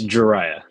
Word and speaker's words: Jariah: i say your name it's jariah mariah i'm gonna say dry